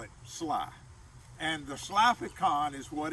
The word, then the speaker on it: Schley: you would pronounce that shall i which is a little difficult i would rather he had named it sly and spelled it sly but that was his